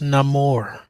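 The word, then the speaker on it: Namor: neyar again we're never gonna see Hercules it's pronounced Nam more we're never going to see Kang again we're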